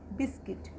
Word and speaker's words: biscuit: क्योंकि इसको हम यू को साइलेंट रखेंगे। बिस्किट, बिस्किट, क्योंकि यू लेटर के बाद हमारा आई लेटर है, आई हमारा वॉल है, तो इसको हम पढ़ेंगे बिस्किट।